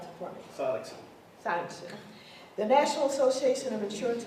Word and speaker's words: Sonnenschein: Sonnenschein, I believe. Pretty close. Is that good? Good enough. Okay. Sonnenschein, you pronounce it for me. Sonnenschein.